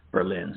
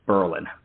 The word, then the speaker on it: Berlin: very mad if you spelled it if you pronounced it Berlin so it's Berlin uh a very tiny Town very few people